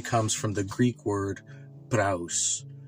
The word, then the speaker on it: praus: So the word meekness actually comes from the Greek word praus, right?